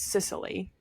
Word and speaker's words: Cicely: moves to the ranch because so her name is I always say it wrong in my brain, but it's Cicely.